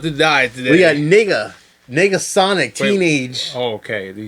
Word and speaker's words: Negasonic: It's not Megasonic. A lot of people get that confused. Or is it Megasonic? Am I saying it wrong? No, nigga. What you say? I planned that to happen. I bet you. I was fishing for that. Negasonic teenage. What was that?